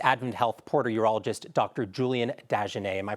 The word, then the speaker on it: Dagenais: Julien Dagenais. Am I pronouncing that right?